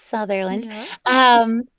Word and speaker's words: Southerland: So my name is Southerland, spelled Southerland, but it's pronounced Southerland.